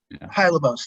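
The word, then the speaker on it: Hylebos: east 11th street and haila boss is that how you say it hi lobos thank you which is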